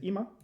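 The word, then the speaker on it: 今: Gun reading is ima, right?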